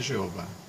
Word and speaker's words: Jeová: E a pronúncia dele é Yehová. Em português é Jeová.